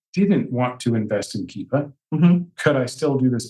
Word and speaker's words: Keepa: what is a brand rhymes with meepa keeper yeah if we if we use business with only one tool it would absolutely hands down be keepa could you do this